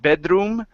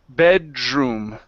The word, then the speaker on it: bedroom: here in the middle don't think of that d as a d change your thought to a j sound like you're saying job so it's j so instead of bedroom it's drom bedroom bedroom uh-huh bedroom bedroom